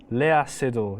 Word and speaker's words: Léa Seydoux: Léa Seydoux. It's a French name. Really? That's how you say it. Say that, yeah. Say because the X in French is silent.